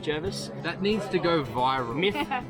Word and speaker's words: Jervis Bay: it in writing in his letters that it's pronounced jervis that needs to go viral busted as